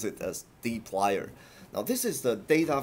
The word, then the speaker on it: dplyr: Usually we uh, pronounce it as dplyr.